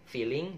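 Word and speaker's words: بِغَافِلِينَ: Kemudian feeling, bighafilin. Ketika saya membaca lafadz bighafilin, ingat-ingatnya feeling. Feeling itu insting ya. Tapi bacanya jangan feeling ya, feelin, karena di sini adalah idhar ya.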